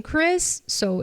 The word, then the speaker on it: Chris's: I can say Chris present or Chris's present as if there was an e here, right?